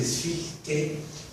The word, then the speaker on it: Fichte: el noble idioma alemán la CH se pronuncia con una J española cuando está sola, así como está ahí en Fichte.